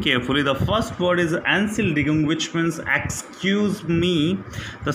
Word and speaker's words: Entschuldigung: So listen carefully how to pronounce this one in the next conversation. Entschuldigung, which means excuse me. Entschuldigung means excuse me.